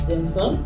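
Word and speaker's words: Xenson: We are here with Dorothy Nabunjo, and we are at the Zenson Art Space. So that's Zenson with an X. For all of you who have been wondering how it's pronounced.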